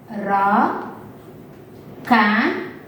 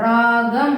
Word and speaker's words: ராகம்: ரா come உச்சரிக்கும் போது பாத்தீங்கன்னா கன்னு மாறிடும். ராகம் அப்படின்னு மாறிடும்.